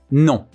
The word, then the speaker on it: non: Like we are a bit shy to pronounce the last N. Again, non.